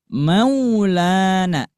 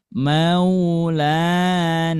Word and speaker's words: Maulana: Dibacanya seperti ini. Maulana. Jangan sampai dibaca gini. Maulana. Maulana itu kurang pas, tapi dibacanya lembut. Maulana.